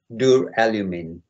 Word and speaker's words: duralumin: And it's pronounced duralumin.